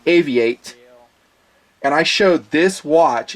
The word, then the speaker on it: AVI-8: these two watches are from a company called a vi8 it's pronounced a v8 and I showed this watch it is a